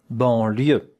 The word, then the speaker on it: banlieue: Here we have a nasal vowel. En. Banlieue. That one is E. Banlieue. And that here is ya. Ya. The sound ya.